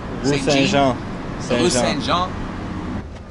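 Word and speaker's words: Saint-Jean: Saint Jean? Saint John? Rue Saint Jean.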